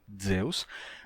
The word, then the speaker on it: Zeus: do Deus grego Zeus se escrevia com z se pronunciava assim Zeus mas começaram a usar